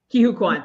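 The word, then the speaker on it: Ke Huy Quan: And I don't know how to pronounce his name. Can somebody help me with that? I think it's Ki-Hu Kwan. Ki-Hu Kwan, thank you.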